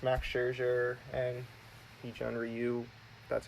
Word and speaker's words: Ryu: is up against Max Scherzer and each one Ryu that's how you pronounce it I don't think he J I'm